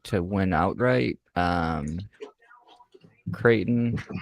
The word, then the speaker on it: Creighton: Creighton and or Crichton. You have to figure out how to pronounce that properly. Creighton. Creighton. Yeah, Creighton. I've got them.